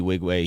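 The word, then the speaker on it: Nwigwe: all oh yeah yeah I didn't know that's how you said I always was like the N is silent yeah silent because he's African but yeah Toby wig way he's fucking super dope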